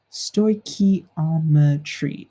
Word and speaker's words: stoichiometry: on the spelling here though delete that part story key alma tree is how we pronounce it and it's just the study of